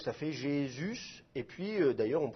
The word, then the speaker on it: Jésus: Donc ça, il faudrait prononcer Yesous. Mais évidemment, la prononciation française, ça devient un J, et le U, il est prononcé U et pas OU. Donc ça fait Jésus, et puis d'ailleurs, on